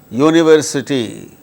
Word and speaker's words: university: But in the case of the words like unit, unity, universe, university, they produce consonant sound.